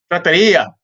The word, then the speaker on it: trattoria: trattoria, I guess that's how you say it, trattoria. Okay, whatever. Trattoria. Trattoria.